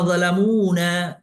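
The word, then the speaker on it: ظَلَمُونَا: Wa ma zalamuna ini seringkali ada orang membacanya agak keliru nih Bapak Ibu. Zalamuna padahal nanya tuh panjang.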